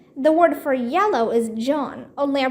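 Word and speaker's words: jaune: word for yellow is John only I pronounced Joan like her name um dinkus Josh said what's this got to do with anything said the French word for yellow sounds just like Joan that Sam is tutor's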